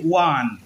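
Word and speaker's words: one: তাহলে এখানে হলো এ, কারণ এই দেখো এই ওর উচ্চারণ ওয়ার মতন হচ্ছে, ওয়ান।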